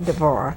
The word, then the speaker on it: Deborah: deborah deborah yes deborah that's the way it's pronounced in judges in the bible it's called hebrew yes ma'am some people call it deborah yes and a lot of people say debbie and i have to